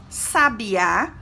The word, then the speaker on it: sabiá: Então, a pronúncia de cada uma das palavras se torna diferente.